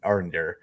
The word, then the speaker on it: Arondir: Yeah, it's supposed to be Arondir.